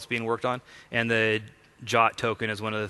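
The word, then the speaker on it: JWT: we were using the the jot or Json web tokens jot is like the pronunciation called out in the specification um it's a commonly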